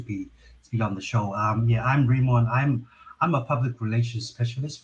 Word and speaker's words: Rimon: Is it Rimon? Am I pronouncing that right? It's Rimon. But Rimon. That was close.